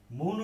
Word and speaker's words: মৌন: তাহলে যেমন মৌন, মৌন শব্দের উচ্চারণটা হবে এরকম, মৌ, মৌ, নো।